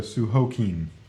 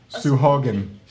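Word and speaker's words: Sahuagin: down phonetically Oh again I thought the last symbol rhymed with keen hey you know what in this world it's called a sue Hagen we just got a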